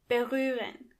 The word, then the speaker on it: berühren: First of all, the H is silent. Berühren.